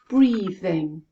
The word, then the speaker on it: breathing: that word k o the next word is breathing how many syllables breathe thing two syllables first syllable e as in c notice my tongue breathe let's have a look at the second syllable as in it in now let's put them together breathing where is the stress yes it's at the beginning breathing let's have a look